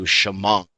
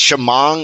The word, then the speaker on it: Shamong: town we're moving to Shamong oh the Tabernacle so sh it's Shamong it's spelled s h a m o n g but all the Hicks back down there say Shamong so Shamong and you know nice